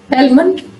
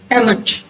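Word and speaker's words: almond: एलमंट और एमंट दोनों तरह से ठीक है।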